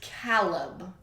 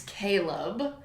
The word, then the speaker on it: Caleb: and the narrator insisted that his name was Caleb. But it's not. It's Caleb. Why would you, it's spelled Caleb.